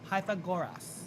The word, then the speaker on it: Pythagoras: Was it Pythagoras? What is that? Pythagoras? Yeah. Pythagoras.